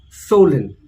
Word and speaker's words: swollen: We don't pronounce the W. It is swollen.